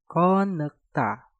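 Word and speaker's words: 겉늙다: Kot diakhiri dengan tiut, setelah itu diikuti kata nek yang diawali dengan nieun. Maka tiutnya kalian rubah menjadi suara nieun. Untuk pengucapannya menjadi konekta, konekta, konekta, konekta.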